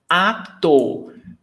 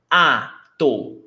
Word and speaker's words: ator: Autor, ator. Pay attention to the pronunciation. Autor, 2 syllables. Au, diphthong, autor, the writer. Ator, 2 syllables as well, but not a diphthong anymore. Ator, autor, ator.